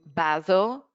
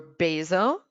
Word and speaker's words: basil: I've got pasta, capers, and maybe for you, basil or basil. There are actually 2 pronunciations there to take into consideration.